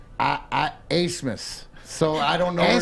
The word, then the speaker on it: Abmas: Oral Roberts has the best shooter in the country, and the kid his name is spelled Max Abmas, and it's pronounced Asmus.